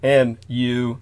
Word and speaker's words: Mu: religion, they referred to as Mu, M-U, but it's pronounced more like Mu.